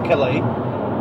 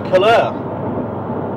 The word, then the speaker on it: Cailleaux: Now they pronounce it Cailleaux, we'd say Cailleaux, because it's got an E-A-U-X, Cailleaux, they call it Cailleaux.